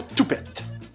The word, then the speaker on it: toupette: Le mot brou et le mot toupette. On va commencer par le plus simple. Toupette. Le toupette au Québec, on prononce beaucoup le t comme si cit un peu t o u p e tte.